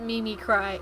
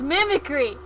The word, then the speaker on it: mimicry: name like my username they always call it me me cry it's mimicry everyone does it it's not me me cry so making a pun